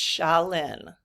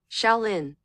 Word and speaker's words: Shaolin: Okay, so it's Shaolin. This is how you pronounce it. Shaolin.